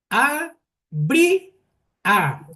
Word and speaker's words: abría: palabra tónica o la sílaba tónica es bri. Sí. A bri a. Efectivamente, ahí está el la sílaba tónica en la en la letra i.